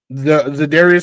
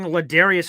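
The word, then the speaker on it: Za'Darius: Zadarius Smith. Oh, Zadarius. I kept hearing Larius in my I'm like, "Who the hell is Learius?"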